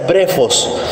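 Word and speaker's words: βρέφος: Es exactamente la misma palabra, es la palabra griega que se pronuncia brefos, y su significado es uno solo: niños.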